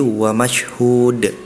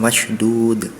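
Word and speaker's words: مشهود: Terus di surat Al-Buruj pada ayat 3 tadi wasyahidi wa mashhud. Tadi pelafalan huruf ha-nya seperti huruf do tadi, mungkin agak jauh, tapi terdengaran saya pribadi tadi terdengar seperti huruf do, sehingga berbunyi wasyahidi wa mashdud.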